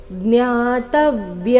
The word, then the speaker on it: ಜ್ಞಾತವ್ಯ: ರೀತಿ ಹೇಳಬೇಕು ನೇಹ ಭೂಯೋನ್ಯ ಜ್ಞಾತವ್ಯ ಅಥವಾ ಜ್ಞಾತವ್ಯ ತ ಮೇಲೆ ಆಘಾತ ಜ್ಞಾತವ್ಯ ಯಮವ ಶಿಷ್ಯತೆ ಶಿಷ್ಯತೆ ಕೊನೆಗೆ